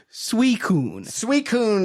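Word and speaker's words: Suicune: It's suicun is is what it is, but the way that it's spelled looks very much like suicide.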